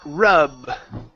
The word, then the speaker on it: rub: have the word uh rub rub uh let's see here yeah instead of R okay give me a b sound here so um rub my